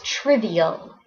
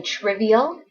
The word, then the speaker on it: trivial: The next word is trivial. Everybody say trivial. It's 3 syllables. Triv. E-O. Trivial.